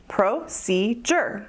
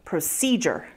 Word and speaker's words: procedure: Procedure has three syllables, procedure, with the emphasis on the second syllable, procedure, procedure. Now listen to the third syllable, procedure. See, it's spelled with a D, but most native speakers say it like a J, procedure, procedure, procedure.